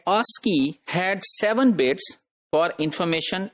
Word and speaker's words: ASCII: a SC III and that is pronounced as ASCII so that Oski had seven bits for